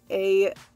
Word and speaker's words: Aisling: It's spelled not how you think it is. It's not A-S-H-L-I-N-G. It's A-I-S-L-I-N-G. Aisling. It's a very good Irish name.